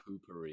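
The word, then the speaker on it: Poo-Pourri: pronounced poopery.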